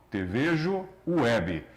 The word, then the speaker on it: tvejoweb: O T é mudo, tvejoweb.